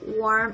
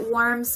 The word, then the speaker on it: warm: I know that the pronunciation is kind of confusing because it is very similar, worm and warm.